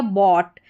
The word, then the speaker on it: bought: फिर यहाँ पर देखिए BOUGHT, इसमें भी OUGH है, ठीक है, ये हो गया बॉट। यहाँ पर ओ करके साउंड आ रहा है और टी साथ में अटैच है तो ऑट करके इसका उच्चारण। सिर्फ OUGH की बात करेंगे